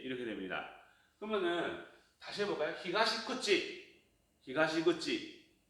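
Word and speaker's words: 東口: 히가시구치, 히가시구치. 자, 발음 틀리게 했어요. 뭐냐? 하나는 쿠치라고 했고 하나는 땡땡 붙여서 구찌라고 했어요. 히가시쿠치, 히가시구치.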